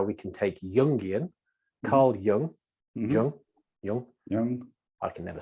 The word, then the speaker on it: Jung: version of how we can take jungian Carl Young I can never say it properly j-u-n-g and